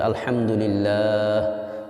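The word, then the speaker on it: الحمد لله: শেষে হা উচ্চারণটা সঠিক হতে সুবহানাল্লাহ শেষে হায়ের উচ্চারণ হতে হবে আলহামদুলিল্লাহ ওয়াকফলে তিন লম্বা হয় মধ্যে আরজি এটা আপনাদের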